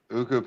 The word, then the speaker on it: Ukko-Pekka: Uka-Puka. Is that how you say his name? Uka-Puka Luukkonen? Ukko-Pekka Pekka Luukkonen.